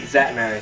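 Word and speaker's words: Szatmary: He's a Zatt Strength, but his last name is spelled S-Z-A-T and then M-A-R-Y. But just Zatt Strength on YouTube, same thing on Instagram.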